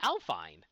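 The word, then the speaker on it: Alfyn: uh alfin story who I found out what's now pronounced alfine I keep saying is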